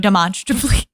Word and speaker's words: demonstrably: Demonstrably. You have to say monster.